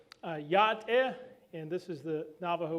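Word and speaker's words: Yá'át'ééh: So Yat-e is the hello. Yeah, it's three syllables.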